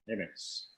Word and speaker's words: Amyx: I have Scott Amyx. Am I pronouncing your name right, Scott? Amyx. Yeah, I've got Scott Amyx.